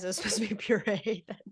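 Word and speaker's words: purée: cauliflower and PE REO it's pure but I wanted to note that he pronounces P like Purry and I was like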